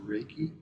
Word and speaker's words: Reiki: I make by the way yes clarify it's pronounced Reiki some people say yep raiki or raiki it's it's the combination of two